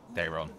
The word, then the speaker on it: Daeron: Daeron, yeah. You don't pronounce the E.